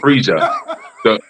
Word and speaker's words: Frieza: freaking is funny but it's pronounced it's pronounced Frieza he's fre yeah a